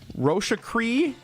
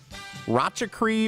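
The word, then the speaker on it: Roche-A-Cri: Ro a cry. Roshakree I think it's cry R O C H E- A- C R I Roachree Roshakree Roshakry I've heard of Triple State Park. I've never heard of it. Roshakry State Park we'll go with.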